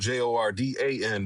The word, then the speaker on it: Jordn: So, what I did was spell So, my name is it's spelled J O R D A N. But what I did was I just took the A out.